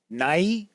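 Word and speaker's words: Nighy: And last night I watched Living with, I think his last name is pronounced Nye.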